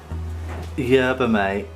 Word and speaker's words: yerba mate: have so it is yerba mate okay yeah boom at a tea whoever might say - that's how they pronounce it in South America yes so we've got